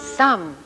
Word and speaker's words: some: rhymes with thumb and this one is some some please give me some and some rhymes with thumb and our last spy